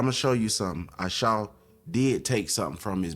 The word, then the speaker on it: Esau: And Esau, how you say his name is Ashau before his name was changed. Ashau.